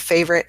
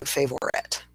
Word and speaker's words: favorite: The same thing with favorite, 2-syllable word favorite as opposed to saying favorite.